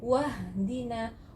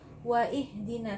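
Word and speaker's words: واهدنا: Hamzah wasli ini ketika kita menaruh huruf sebelumnya, artinya jika hamzahnya di tengah-tengah, maka gugur hamzah wasalnya ini, jadi membacanya wahdina, wahdina. Tidak ada yang membaca waihdina, tidak ada ya orang yang membaca waihdina.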